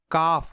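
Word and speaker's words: كَ: عام طور پر ہم اسے حرف جر کاف کہیں گے، لیکن جب عربی جملوں میں تلفظ کریں گے تو کاف نہیں بلکہ ک پڑھیں گے.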